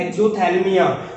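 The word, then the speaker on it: xerophthalmia: That disease is cause by deficiency of vitamin A एंड the name of disease is एक्सोथैल्मिया. द पी is silent in this word, right.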